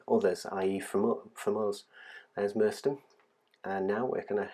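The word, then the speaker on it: Merstone: Now we're coming up to Merston, or Merston, how it's pronounced.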